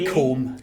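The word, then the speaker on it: Combe: Um, is that is that how you how you pronounce someone um whose name ends with an E? Yeah. Com.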